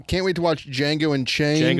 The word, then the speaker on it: Django: All right, can't wait to watch Django Unchained. Django. It's spelled with a D.